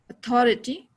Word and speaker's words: authority: So authority में बीच में stress क्या है, and authorize means वो first में गया है, first sound में, first syllable में.